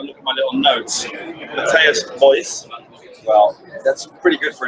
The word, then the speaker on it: Matthijs Buijs: Matthijs, Buijs. Well, that's pretty good for an English guy. Thank you. Matthijs, Buijs.